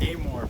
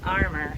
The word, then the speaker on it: Amor: pronounced Amore pork. Amor, not armor, which is what I was incorrectly saying.